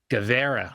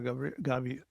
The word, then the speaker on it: Gaviria: December 1st, 1949, Pablo Emilio Escobar, Guevara, right? Did I say that? How do you say his last name? Is it Guevara? Pablo Emilio Escobar Gaviria.